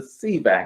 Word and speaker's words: Sivak: let's bring up um Miss to Reese uh see back I always want to say your name wrong Teresa I think I get it right Theresa see back is that right yes that is is correct